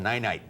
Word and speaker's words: Ninite: And if you're a Windows user and you just did that clean install, there's a great website called Ninite. That's how I pronounce it.